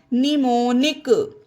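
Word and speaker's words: mnemonic: इसे पढ़ते हैं निमोन यहां पर एम हो गया है साइलेंट सिर्फ इन चीजों का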